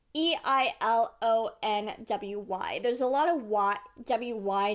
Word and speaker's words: Eilonwy: The most difficult name for me to pronounce would probably be Eilonwy. It's Eilonwy.